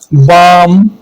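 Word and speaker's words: balm: knowledge silent F के एम से पहले आने वाला ल साइलेंट होता है जैसे काफ वाक या काम बाम पाम ये सारे एल क्या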